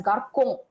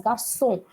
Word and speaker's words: garçon: to pronounce it as garcon. C-O, you will generally pronounce it as O. So you will, ko. So I don't want that K sound. I want the S sound as garçon.